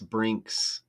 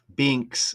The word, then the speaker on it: Binks: I don't know which one's which, but one of them is uh less Brinks. Binks, excuse me. That's interesting because Binks, it does rhyme with Brink and remember Cameron Brink